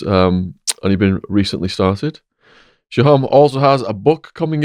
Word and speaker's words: Sohom: And Sohom is the correct pronunciation of your name.